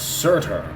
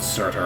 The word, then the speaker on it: Surtur: chain in front of Surtur. The pronunciation of his name made me believe that he was named after a mattress brand.